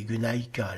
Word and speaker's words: γυναῖκα: Upsilon se prononce U en prononciation restituée du grec ancien mais a été translitéré Y en français qui se prononce i.